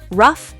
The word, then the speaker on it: rough: For gh as f. Laugh. Tough. Rough enough. Cuff.